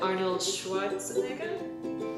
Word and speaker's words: Arnold Schwarzenegger: So, in last week's video, I talked about how I met Arnold Schwarzenegger?